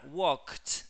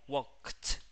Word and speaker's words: walked: Que dice que cuando una palabra termina en ED y tiene consonante, si la consonante es una K y termina en ED, después de la K tenés que pronunciar una T. Como walked.